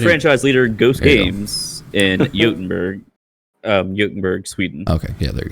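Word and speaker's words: Göteborg: I thought you were gonna say Gothenburg. I was like, oh no, don't do it.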